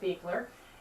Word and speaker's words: Beuchler: Okay, now we're talking to Beckler. Is that how you pronounce it? Beler.